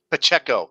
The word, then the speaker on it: Pacheco: I'm pronouncing that right? Pacheco. Pacheco. Pacheco.